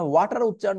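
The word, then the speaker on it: water: দিকে দেন খেয়াল করবেন এখানে ওয়াটার উচ্চারণ করার সময় ওয়াটার মানে আ দুই পাশে আ সাউন্ড তৈরি হয়ে গেছে টি এর তাই না ওয়া ঠা তাহলে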